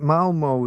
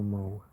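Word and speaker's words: Malmö: telling me about mal they don't even pronounce it as mal Malmo. Malma. Something like that. Mulma.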